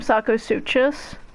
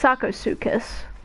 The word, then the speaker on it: Sarcosuchus: I used to call them Sarcosuchus. I thought I was so smart. It's Sarcosuchus. It doesn't look like it would be pronounced that way though.